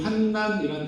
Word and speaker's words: 환난: 이 환난이란 단어를 우리가 한국에서 항상 환란으로 읽었는데 환란이란 단어가 따로 있죠. 좀 비슷하지만 환란의 사회 정치 문제 또 전쟁에 관한 뜻이 있어서 한글 성경에는 환난만 쓰였고 환난이라고 읽어야 된답니다. 저도 좀 불편하지만 오늘부터 환난 해보겠습니다.